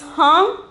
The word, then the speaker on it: हाँ: Then the eighth one is ha. Ha. The pronunciation is hum.